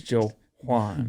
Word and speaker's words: Jauan: On FanDuel, I don't know if they knew how to spell it either because they spelled it Jauan. Yeah, Okay. it's Jawan.